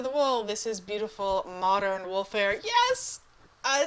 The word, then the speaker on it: Modern Woolfare: uh race for the wool this is beautiful modern wolfir yes I said it right I didn't say